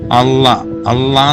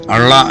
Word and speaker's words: അള്ളാ: ഏറ്റവും ഉദാഹരണം സിമ്പിളായിട്ട് പറയുകയാണെങ്കിൽ, അള്ളാ എന്നുള്ള വാക്ക് പറയുമ്പം അള്ള എന്ന് പറയാനേ നമുക്ക് പറ്റത്തുള്ളൂ. കാരണം എഴുതുമ്പോൾ അങ്ങനെയാണ്, ആയും ലായുമാണ്. പക്ഷെ ഇത് രണ്ടും അല്ലാത്തൊരു ശബ്ദമാണ് അള്ളാ.